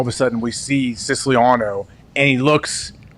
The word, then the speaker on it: Siciliano: Do we know exactly how to pronounce his name? I'm pretty sure it's Siciliano. Yeah. Siciliano. Yeah. Oh, so the emphasis is a little different than we've been saying, right?